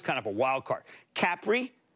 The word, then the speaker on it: Capri: of a wild card capri uh which by the way that's how they pronounce it over there capri holdings tapestry louis